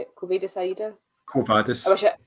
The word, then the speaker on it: Quo Vadis: Quo Vadis. You don't with Latin. You don't have any inflections in the language. You just say it as it's written.